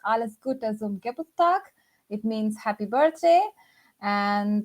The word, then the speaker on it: Alles Gute zum Geburtstag: So at least the greeting for the birthday stuff is pronounced Alles Gute zum Geburtstag.